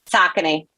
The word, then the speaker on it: Saucony: I'm just beyond grateful that we all know how to pronounce Saucony. Saucony.